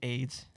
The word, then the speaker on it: Ayds: It was AYDS. Yeah, but still, you pronounce it AIDS.